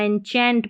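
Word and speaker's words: enchant: इंचैंट पढ़ेंगे इसको।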